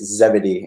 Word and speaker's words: Zebedee: wanted to to attest to it it's it's Zebedee in that and that's intonation there but second